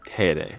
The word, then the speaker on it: Teide: So we just asked somebody here who's from the island, and he said it's pronounced Teide.